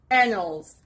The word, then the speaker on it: annals: word is anals anal the stress is on the first part annals it's a noun and